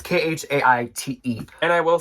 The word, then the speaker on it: Khaite: Okay, so my next brand is spelled interestingly, but it's pronounced Khaite, and it's Khaite.